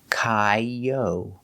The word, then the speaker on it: coyote: We have the long O, yo, like go and show, Coyote. And the T is pronounced with a D sound, d, coyote. And the E is pronounced with a long E, like green beans, coyote, coyote. The stress is on the second syllable, coyote, coyote.